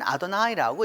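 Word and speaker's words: Adonai: 받아 들여서 그 다음부터는 아도나이 라고 말하는 나의 주님 이게 그 주님께서 라고 이렇게 대원 했던거죠 쓰기는 여호와 라고 썼지만 읽을 때는 아드 나이라고 읽었던 것이죠 하나님은 그 2 출애굽기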